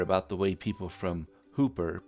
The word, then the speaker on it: Hooper: Residents of Hooper, Nebraska will tell you it's Hooper, like hooker with a P.